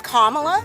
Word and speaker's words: Kamala: Well, it's it's like the Kamala rhetoric. Her name is Kamala, actually.